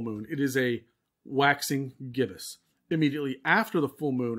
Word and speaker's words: gibbous: So there's just before the full moon, its phase is called waxing gibbous. Okay. I actually had to look that up and how to pronounce that.